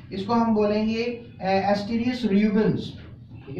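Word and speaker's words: Asterias rubens: इसको हम बोलेंगे एस्टेरियस रूबेंस, ठीक है। एस्टेरियस रूबेंस कहेंगे, ASTER, कैन you spell the spelling?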